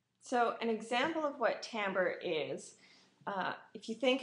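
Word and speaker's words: timbre: that's how you pronounce it everyone it's not Timber it's pronounced tamber and I should uh I should note that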